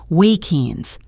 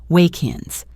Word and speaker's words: walk-ins: The final K sound of walk connects directly to the I of ins. It creates one smooth sound, wake-ins. Listen, wake-ins.